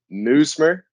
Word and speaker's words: Nuismer: And I didn't want to get the pronunciation wrong, but it's Nuismer. That's good. That's good. Nuismer.